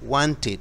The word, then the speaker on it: wanted: dije Wanted Wanted querías ese se pronuncia tit porque termina en t e d y ahí sí se pronuncia Wanted es pasado simple pasado